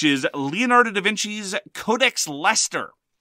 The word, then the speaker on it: Leicester: And then we're going to talk about our feature game, which is Leonardo da Vinci's Codex Leicester, spelt L-E-I-C-E-S-T-E-R, very much like Worcestershire sauce, which is pronounced Worcester sauce.